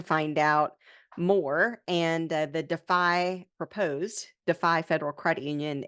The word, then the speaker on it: DeFi: a plan words but um but yes it's pronounced defy and it's interesting to me because you know